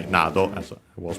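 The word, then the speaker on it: など: Nado on its own is accent on the last, on the first syllable. I wanted to say Nado, as I was pronouncing.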